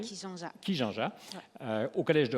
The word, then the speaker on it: Kijanja: Merci, Alors, à vous c'est Kijanja ou Kijanja, comme on doit prononcer? Kijanja.